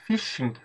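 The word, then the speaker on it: phishing: econômico uma notícia interessante o Brasil é líder em Fishing é assim que se pronuncia basicamente isso é o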